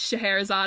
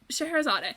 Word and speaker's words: Scheherazade: Well, the song starts, he goes, Alibaba had them 40 thieves, Scheherazade had 1,000 tales. And that's how I know how to pronounce it. Thank you, the Disney company. Thank you, Robin Williams. So, Scheherazade.